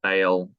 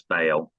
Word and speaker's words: Ba'al: but um yeah we've heard but it's sometimes pronounced pale well I think with the accent but we've got in the um in the logo it's supposed to pronounce bail right we've always said Baal yeah so yeah I think okay I know